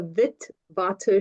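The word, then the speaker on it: Witwatersrand: at University of the Vit Batter. So if anyone speaks Dutch, W's are pronounced like a V in English, but we just call it Vitz because it's a very long name.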